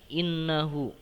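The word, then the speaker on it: إِنَّهُ: Nah, ayat ketiga kalimat terakhir perhatikan, innahu. Nah, innya teman-teman dibacanya agak ditahan. Innahu kana tawwaba. Nah, ditahan ya innya.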